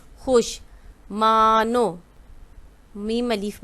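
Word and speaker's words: خوش: ठीक है, और खे वाओ शीन खुश। ठीक है, ये वाओ जो है यहाँ साइलेंट है, पढ़ा नहीं जाता लेकिन लिखा जाता है। ये क्या है? खुश।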